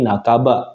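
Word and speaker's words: 半ば: Contoh yang pertama, nah kalau kanjinya ada huruf ba muncul ya, minasang, dia akan dibaca nakaba, bukan hang ya minasang, tapi nakaba, yang artinya juga setengah atau separuh.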